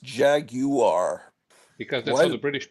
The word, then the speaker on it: Jaguar: it's a Jaguar I I don't think you should have that extra syllable in there really it's like uh